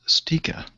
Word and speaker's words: Sticha: You can usually find me on most of those things is Stika. Last name spelled Sticha. And it's pronounced Stika.